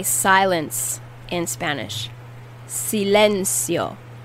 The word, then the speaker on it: silencio: say silence in spanish silencio silencio silencio the c in this word is pronounced like an s sometimes it's pronounced as